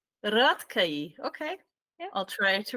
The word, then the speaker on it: Rátkai: Is that a correct pronunciation? Yeah, we can say so. Yeah. How do you say it? Rátkai. Rátkai.